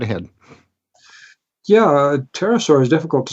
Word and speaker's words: pterosaur: flying creatures but generally pterosaur is hard to spell Pterodactylus also the PT and all the silent P but you know just